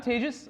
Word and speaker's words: Tejas: Hi, I'm Tejas. That's pronounced like advantageous for those of you who aren't used to exotic Indian names.